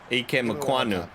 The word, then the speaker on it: Ikem Ekwonu: That's going to be Ikem Ekwonu. Ikem Ekwonu. I said it right the 4th time.